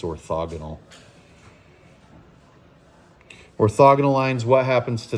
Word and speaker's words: orthogonal: then we have orthogonal it's with an O I've pronounced it orthagonal like my whole life but it's orthogonal orthogonal lines what happens